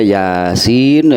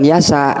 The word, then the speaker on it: Yasin: Ini huruf hijaiyah sehingga pelafadannya seperti melafadkan huruf hijaiyah. Jadi bukan yasa gitu bacanya ini ya, bukan yasa, Yasin.